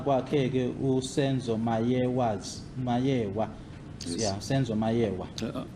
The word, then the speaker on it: Meyiwa: His answer to the question, the police called me and asked me if I know of Senzo Meyiwa's death.